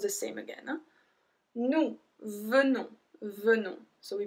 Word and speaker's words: venons: Nous venons, venons. So we pronounce the E like a E.